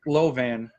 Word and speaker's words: Lovan: it right wow yeah low van like like advanced i have three talents